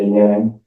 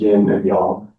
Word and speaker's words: yin and yang: And when I was a kid, we called it yinyang, but in Chinese, it it really is uh pronounced yin and yang.